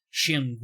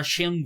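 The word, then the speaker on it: Şengün: como criação é o sengun Sheng eu sei que nos Estados Unidos o pessoal fala Shun né eu tô vendo aqui a eh a pronúncia dele no no Basketball reference tá shum mesmo né só que aí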